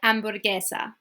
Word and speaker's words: hamburguesa: Y hamburguesa, okay? Hamburguesa. Okay, I just dropped the H.